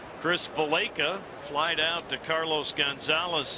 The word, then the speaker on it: Valaika: Valaika. Chris pronounces it Valaika.